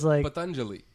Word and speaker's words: Patanjali: It's like you got it not wrong, but you did it so slow because of your fear. It's Patanjali.